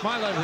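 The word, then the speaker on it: Mogilny: by my left i asked sergey nem chinoff to give me milo's pronunciation this morning and here comes kovalev with it he shoots just wide and it was tough my level is about as close as we can get bukabum weight knocked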